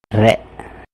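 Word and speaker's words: れ: Re. So we're combining with the E sound, which in Japanese is pronounced e, so it goes and becomes re.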